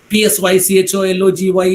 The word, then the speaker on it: psychology: where the letter h is silent okay we pronounce it as honest lamb the b is mutant right lamb t omb is p s y c h o l o g y is psychology the p is island there k